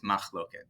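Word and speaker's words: מחלוקת: So first word is Makhloket, or even though it says Makhloket, it's Makhloket, right? That's how we pronounce it, Makhloket, which means disagreement.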